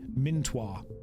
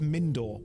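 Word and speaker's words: Mindoir: the enemy base okay minir I'm going to pronounce all of these wrong and if you don't behave I'll do it on purpose it's pronounced mindor we'll go with mindor and they're just all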